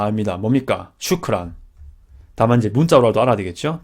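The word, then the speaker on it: شكرا: 이걸 샤프란으로 처음에 공부하신 분도 있는데 뭐 그런 식으로 공부해서 익숙해지는 게 중요하지 않겠습니까? 일단 근데 나중에 아랍 분을 만나셨을 때 샤프란이라고 하지 마시고 샤프란이라고 하면 또 이게 뭐라고인지 모를 수 있으니까 슈크란이라고 그때는 해주시기 바랍니다.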